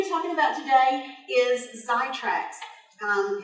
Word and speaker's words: Xitracs: we're going to be talking about today is sidetracks come its eggs I TRACS but pretend that excess of Z it's pronounced zai tracks okay it was a sophomore purchased about a